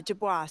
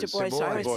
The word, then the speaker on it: Du Bois: Yeah, Du Bois. Du Bois. Sorry, Du Bois. it's Yes, and pronounced there it you Du go.